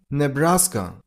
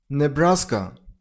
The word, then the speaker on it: Nebraska: Number 27. Nebraska. Nebraska. Stress on the middle syllable. I mean on brass soundion. Nasa. Nebraska.